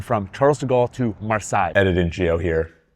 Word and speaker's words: Marseille: We're going from Charles de Gaulle to Marseille. Editing Geo here. It's Marseille, France, right? I always thought it was Marseille, but I got corrected when I was there.